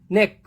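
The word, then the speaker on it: neck: जब भी सी के बाद के आ जाए, सी के का कॉम्बिनेशन हो जाए तो हम सी का प्रोनाउंसिएशन नहीं करते हैं, डायरेक्टली के पे बोलते हैं। नेक, आप इसको एन ई के बोलेंगे तब भी नेक ही रहेगा, और एन ई सी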